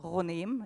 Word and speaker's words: Ghoneim: That's my name, Ghoneim, actually, it's pronounced.